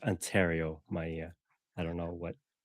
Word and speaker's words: Ontario: That's it's pronounced Ontario, Maia.